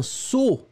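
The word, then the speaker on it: sot: Et c'est un saut. Et on l'écrit S-O-T. Le T final, bien sûr, n'est pas prononcé.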